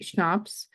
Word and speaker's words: CHNOPS: And we sometimes abbreviate these as CHNOPS, and this could be pronounced schnapps.